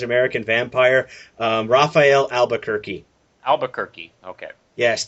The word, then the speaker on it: Albuquerque: vampire um Raphael Albuquerque Albuquerque okay yes that that's what everyone pronounces his name Albuquerque so if you're ever